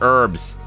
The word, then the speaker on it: herbs: gonna need abs yes I said herbs with an e the H is silent in that word I had a comment